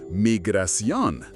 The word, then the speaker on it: Migración: In Spanish, you'll be directed to Migración, pronounced Migración.